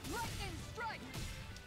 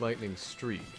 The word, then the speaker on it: Lightning Strike: Lightning strike. Hurricane strike. Lightning strike. That wasn't as bad as I thought it was gonna be. She says lightning strike, but it's lightning streak. Spelled like lightning strike.